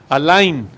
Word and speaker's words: allein: El gran reformador del siglo XVI, Martín Lutero, tradujo este versículo buscando expresar esta idea y añadió la palabra alemana allein. Así se pronuncia, ¿verdad, Werner?